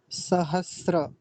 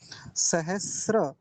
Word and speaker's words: सहस्र: गलत बोला जाता है हनुमान चालीसा में सहस्त्र नहीं होता सहस्त्र होता है सहस्र यह श्र होता है कई बार बताया